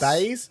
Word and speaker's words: Baze: Baz? Well, I say Baz. I'm sure someone says Baze, but guess what?